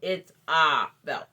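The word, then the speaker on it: Itzah Belt: her facebook page and it's spelled i t z a h as in harry b e l t so it's ah belt okay so let me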